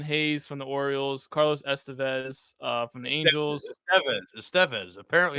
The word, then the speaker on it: Estevez: There's something with the different sound and where the accent is placed in the gotcha. name, so that's why it's Estevez. Because I heard Mm, Lauren or Taryn Thatcher pronounce it like 20 times, and I was like, gotcha. "Why is she saying it like that?" But it is in fact Carlos Estevez.